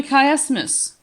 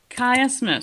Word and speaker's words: chiasmus: Actually, it is called a chiasmus. Chiasmus. So I want you to pronounce it correctly.